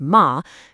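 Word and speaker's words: 马: Simply because the spoken word for horse happens to be pronounced ma. Combine them, and you get the phonetic character for mother.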